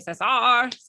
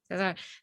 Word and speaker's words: Cesar: I was saying Cesar. No, you're good. You're good. I love it. Yeah. Okay. Cesar.